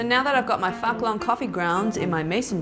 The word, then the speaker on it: Phuc Long: It is a very famous Vietnamese coffee brand called Fucklong. They might pronounce it a little differently, but I'm Australian, so we would say that's Fucklong, mate.